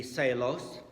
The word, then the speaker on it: Seelos: Seelos or Cee Lo's his last name is SEL pardon me s ee l OS in German that would definitely be celos but who knows how